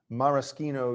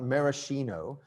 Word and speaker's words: maraschino: thing it's a real maraschino cherry note the pronunciation not maraschino this is an italian maraschino cherry it's made by the